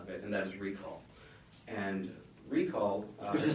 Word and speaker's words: reQall: Well, actually, we did make a product out of it, and that is reQall. And reQall... which is spelled with a Q, by the way.